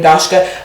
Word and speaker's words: Daska: of people ask U my name is daska it's two syllables it's like Josh but with a d so do and then